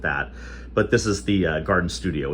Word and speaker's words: Gardyn: This one is called a Gardyn, spelled with a Y, Gardyn, okay?